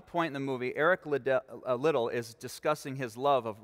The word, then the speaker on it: Liddell: in the 1924 olympics eric little often mispronounced as liddell a devout scottish christian